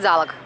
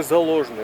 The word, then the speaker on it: Заложный: Но все говорят залог. Вот и это неправильно, потому что... Ударение не туда. Как вот говорят, заречный район, так и заложный район, то есть за логом.